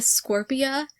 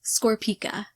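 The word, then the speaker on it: Scorpica: more closely today and noticed there's a freaking c there at the end i was calling a scorpio when it's in fact scorpika i still feel like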